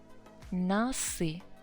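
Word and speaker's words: носы: It's still consonant, so the plural form would be nasi. Yes, again, one syllable.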